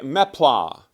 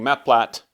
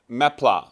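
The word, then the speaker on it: meplat: for me to say mea but that's how it's actually pronounced it's a French word I guess uh and the word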